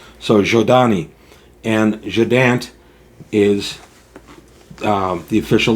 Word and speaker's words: Zhodani: The ZH is pronounced as in measure, as the S in measure is pronounced, so Z kind of sound. So Zhodani.